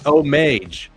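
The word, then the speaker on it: homage: out see just kidding Dojo said it right it's omage omage omage you know it's YouTube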